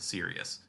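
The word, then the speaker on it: Sirius: aaban and we get the official pronunciation of serus black because he's like quote literally the word serious because I know there's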